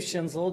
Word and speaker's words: Schinzel: how to interpret uh my name is schinzel and the last name is s c i n z l I live